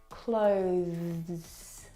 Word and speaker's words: clothes: sound this word has the th sound clothes clothes it's very short but it's definitely there I need to pack my